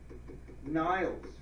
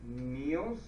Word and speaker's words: Niels: Niles. Could you say Niels? Niels, maybe.